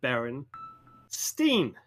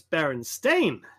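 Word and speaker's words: Berenstain: It's stein, right? But it's stain in English. That's how you pronounce it. Well, if it was always Baron Stain, why wouldn't you say Baron Stain Bears?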